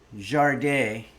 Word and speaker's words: Sade: quoting a lyric from the band Jard, which is spelled Sade.